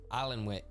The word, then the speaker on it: Alnwick: No, it's Alnwick, the town.